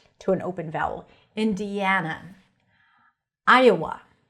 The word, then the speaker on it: Iowa: Iowa. Another great name. I-a-wa. And then when you transition from Iowa, it sounds like there is a yes sound there.